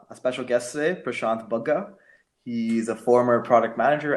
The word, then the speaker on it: Bagga: you so much static I love that he pronounce my last name correctly it's bug thank you alright so